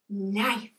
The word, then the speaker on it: knife: Knife. This one's a little tricky because the K is silent.